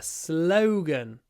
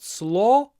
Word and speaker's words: slogan: a great slogan a slogan remember to pronounce it with a word it's not SLO it's slow slogan slogan and the next one